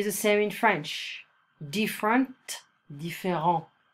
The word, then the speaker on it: différent: Different, différent. So we don't pronounce the final consonant.